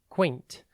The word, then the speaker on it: quaint: It is pronounced quaint and spelt Q-U-A-I-N-T. Think Q-U and then ain't, A-I-N-T.